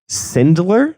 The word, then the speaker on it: Sindler: But this is Sindler. Yeah, you got it right. I just wanted to make sure I pronounced it right.